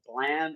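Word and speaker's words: Blame!: Um, Also, dude, there's this manga called Blam. It's spelled Blame, like blame, bro.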